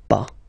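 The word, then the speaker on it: pas: after that pa okay we write it p s okay but as usual final s is not pronounced so it's pa okay remember one thing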